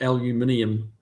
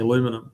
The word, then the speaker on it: aluminium: We did manage to add a whole new a whole extra syllable to aluminium, which does confuse a lot of Americans if you use that term.